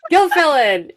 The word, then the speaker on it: Gilfillan: Gilfillan.